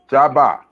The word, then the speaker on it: Jabbar: We say Geb because we're talking in English. That's pronounced Jabbar.